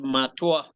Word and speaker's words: Mutua: The name is pronounced Matua.